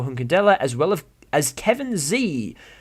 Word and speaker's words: Tse: as well as Kevin Z, which is spelt TSE. I believe that pronounces as Z, but correct me if I'm wrong.